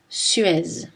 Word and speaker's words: Suez: En général, la lettre Z ne se prononce pas en position finale. Né, ri, rez-de-chaussée. Des exceptions notables sont gaz, L'Alpe d'Huez, Suez.